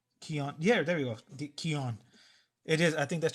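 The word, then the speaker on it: Keown: know if you remember pitt it's funny i pronounced his name dale keon keon yeah there we go keon it is i think that's the proper way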